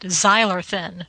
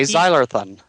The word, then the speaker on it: Zylarthen: Voyages of zyan um I was pronouncing it xyan but it okay zyan okay I'm not sure where the emphasis goes I'm sure Mr Spalding